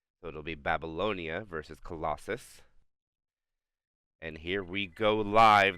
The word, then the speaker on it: Colossus: I said that name wrong for a while. They call it Colossalis, but it's Colossus, not Colossalis.